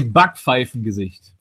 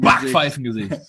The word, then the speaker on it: Backpfeifengesicht: How do you say Backpfeifengesicht? The flying pretzel. Backpfeifen. Backpfeifengesicht.